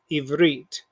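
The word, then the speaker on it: עברית: figure out our keywords this is our first syllable here this is our second so it's going to be eve evreet and evreet means hebrew and here we see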